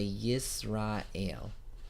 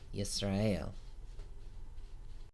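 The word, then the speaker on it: ישראל: to left and top to bottom you say yes Rael yes rayul Hebrew vowels are divided into three classes the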